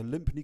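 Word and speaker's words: Lympne: air while we both research things okay so limpy Castle um I think is pronounced Lim Lim Lim just Lim so it's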